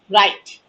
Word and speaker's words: write: We'll be knowing about write, tools and techniques, and some practical tips. Write, yes. Now we'll see each letter: W, R, I, T, and E. W being silent, and anything is silent gets a chance in the last.